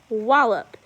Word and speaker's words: wallop: And number 5 is, you can see we punch it on the first, wallop.